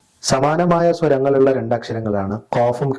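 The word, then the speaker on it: قاف: അതിന്റെ ഉച്ചാരണം തന്നെ ഒരു ഉയർന്ന ശബ്ദമാണ്.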